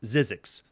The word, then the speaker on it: Zzyzzyxx: printed but it's it's obviously pronounced zizzi X this is zizzi X this is uh cinematronics